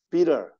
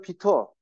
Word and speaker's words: bitter: T로 시작하는 물론 이제 항상 말씀드리지만 영국식 발음은 T 발음을 있는 그대로 다 해줍니다. 그 쓰다 그러면 그냥 비터, 비터, 비터. 그런데 미국식 발음은 다 T 발음을 디귿이나 리을로 한다고 했어요. bitter, bitter.